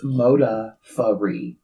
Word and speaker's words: Modafferi: No, it actually says phonetically, it's Modaferri. Modaferri. Modaferri. Modaferri. It still sounds like Modaferri. Modaferri. Now it's sounding like Motor Furry.